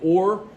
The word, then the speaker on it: Ur: When we talk about those early cities, note one interesting thing is this place here, which you probably pronounce it's actually Or.